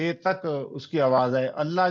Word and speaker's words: اللہ: کر رہے تھے کہ اللہ جو ہے وہ پورا پڑھنا ہے کہ ہے تک اس کی آواز آئے، اللہ جو ہے وہ درست نہیں ہے، تو اسی طرح شروع